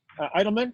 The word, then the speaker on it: Edelman: We got Edelman, is it? Am I pronouncing it right? Yeah, no, that's good.